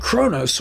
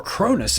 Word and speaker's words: Kronos: Kronos from 1957 and Kronos or cronis as some of the characters in the film pronounce it tells the story of